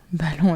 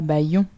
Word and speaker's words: ballon: Eh bien non, ballon est un piège. On ne dit pas baillon, ballon.